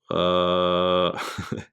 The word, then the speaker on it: Huawei: And excuse me if I pronounce it wrong, but it's Huawei, Huawei P20 Pro.